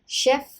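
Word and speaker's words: chef: proof यानी तथ्य proof शेफ सी एच यहां पर श रहेगा शेफ शेफ चीफ चीफ यह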